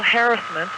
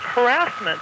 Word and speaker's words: harassment: And In listening to you yesterday when you were talking about sexual harassment, and that's the way I had always heard it pronounced, and now the general media and the press pronounces it harassment.